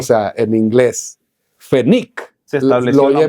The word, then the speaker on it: Pfennig: Pfennig es penny en alemán.